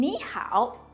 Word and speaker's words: 你好: Please take note that when we have two third tones, the first third tone is pronounced as the second tone. In 你好, 你 is pronounced as the second tone.